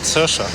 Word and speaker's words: Saoirse: The ship named Saoirse. That's how they pronounce it? Yes, it's Gaelic.